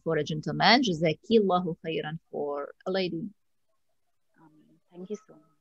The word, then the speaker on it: Jazakillahu Khairan: So Jazakallahu Khairan for a gentleman, Jazakillahu Khairan for a lady.